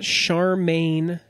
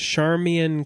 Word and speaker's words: Charmian: just looking it up it's not Charmaine like you would think Charmaine would be because it's CH AR M I am there's no pronunciation given on Wikipedia her maiden name was char Mian Kittredge though okay Charmian